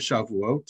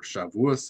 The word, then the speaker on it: Shavuot: had the holiday of shavuot or shavuous if you prefer to to pronounce it that way so the holiday of chevos i on monday and